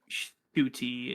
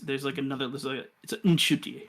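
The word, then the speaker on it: Ncuti: Not Shuti. It's Nshuti, I believe.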